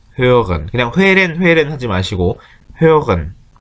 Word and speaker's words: hören: 발음은 정확하게 umlaut니까 회렌이 아니고 hören. 이게 R하고 O umlaut까지 있어서 발음이 좀 어려울 수 있는데 hören 그냥 회렌 하지 마시고 hören 그 다음에 hören은 듣다죠.